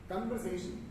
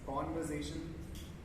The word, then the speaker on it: conversation: Conversation, and it is conversation.